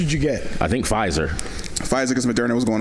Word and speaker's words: Pfizer: I think Pfizer. Pfizer because Moderna was going away. I think so. Bitch. Oh, there you go. Silent P gang.